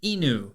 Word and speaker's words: Inu: the Japanese word for dog and that is Inu Inu is spelled I and you and this is a